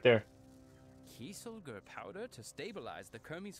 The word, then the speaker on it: Kieselguhr: Kieselguhr powder to stabilize the Kermes fire and a fuse. No. Brilliant work, Spellbinder. Let's mix it up. It's Kieselguhr powder, not Kieselguhr.